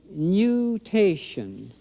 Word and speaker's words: nutation: That motion is called nutation.